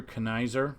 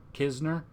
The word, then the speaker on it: Knizner: And then Andrew Knizner or Kisner, Andrew Kisner. I think the N is silent.